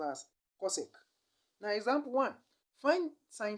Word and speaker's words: cosecant: hypotenuse and the result is cosecant which is pronounced as cosec now example one find sine theta in the